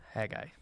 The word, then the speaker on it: Haggai: mine was on Hagi and that is how you say it hay ha guy all right he guy